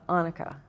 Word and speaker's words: Annika: Do you uh pronounce it Annika or Anika? Uh Annika. Annika, okay.